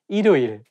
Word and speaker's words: 일요일: Yeah, when the word has the same syllable at the beginning and at the end at the same time, it's not easy to pronounce. For example, 일요일, 일요일. If you read it syllable by syllable, you can say 일요일. But when you say it as one word, you have to connect it together and say 일요일. So you can say 일요일에 경찰청에 갔습니다.